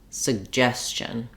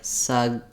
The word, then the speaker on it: suggestion: this word which is start it on the second syllable and then add your first syllable back that makes it easier to get the Rhythm correct and the vowel sounds correct that would sound like gestion suggestion you can also say each syllable slowly and then speed up that would sound like suggestion suggestion suggestion and as I modeled